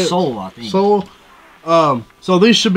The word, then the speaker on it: Seoul: couldn't do it but this is live in soil is that how you say it soul soul um so these should be perfectly fine